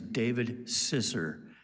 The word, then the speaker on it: Zisser: His name is David Zisser. It's spelled Z I S S E R.